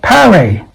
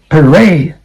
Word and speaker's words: parade: And last one is not parade. That is, okay, parade. This is vowel sound. It's just like above, okay? Above. A very weak sound, okay? A short, weak sound.